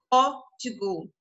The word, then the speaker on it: código: Então, código. O O aí está bem aberto.